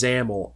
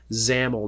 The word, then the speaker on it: XAML: you to understand is zamel XAML pronounced zamel now this is a